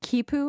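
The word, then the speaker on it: quipu: Uh you write that they had something called a kipu. Am I pronouncing that right? Right. The kipu.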